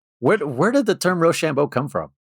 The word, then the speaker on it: Rochambeau: It's spelled Rochambeau. Rochambeau, like bow, like that's my bow. Oh. Beau. Yeah. Definitely French Rochambeau.